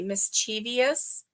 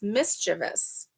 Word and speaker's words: mischievous: you know Regional um one word that gets me is when people say mischievous because if you look at it it there is no EOS in it it's mischievous that is how it's